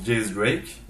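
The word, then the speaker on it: X Drake: D'ailleurs, X-Drake, ça se prononce Diaz Drake.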